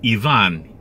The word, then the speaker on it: Ivan: The name is Ivan.